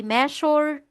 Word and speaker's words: measure: so ito ay hindi measure treasure leure decision, vision, collision. Mali po yon. Ang tamang pronunciation ay may j sound.